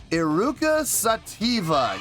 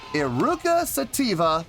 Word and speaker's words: Eruca Sativa: two nights tonight we have i hope i pronounce this name right iruka sativa yes indeed how about that iruka sativa making their debut on the channel before we